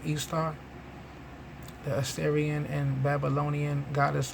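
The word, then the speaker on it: Ishtar: say i see a picture of istar pronounced easter the assyrian and babylonian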